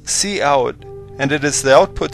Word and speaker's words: cout: interesting work in this program c t is pronounced C out and it is the output stream that we